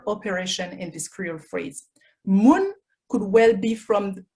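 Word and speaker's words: moun: in this cruel phrase moon could well be from is this actually from the monday moon m-u-n it's spelled in creole m-o-u-n and in any case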